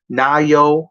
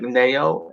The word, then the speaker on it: Nayo: plays sunny on wwe nayo wallace it looks like neo n-a-y-o but it's pronounced na yo like that there's an h